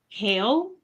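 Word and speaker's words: Khal: I like has a name his name is hail but the way that it's written is k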